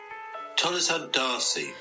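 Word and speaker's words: Tolleshunt D'Arcy: Oh, no, I found out a pronunciation for it. Oh, God. Okay, what is it? Tolleson Darcy.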